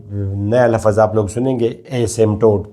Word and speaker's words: asymptote: और आज एक नया लफ्ज़ आप लोग सुनेंगे, एसिम्पटोट। पी इसमें साइलेंट है, लिखते हैं एसिम्पटोट, मगर पढ़ते हैं कैसे हैं? एसिम्पटोट।